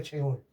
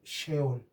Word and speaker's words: sheol: En hebreo, en hebreo infierno, en hebreo infierno se dice cheol. En hebreo eh se dice sheol.